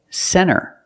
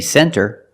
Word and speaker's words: center: When you see NT, a lot of times you don't hear the T. Example, center. Of course, you can say center. It's correct. But a lot of Americans will pronounce it center.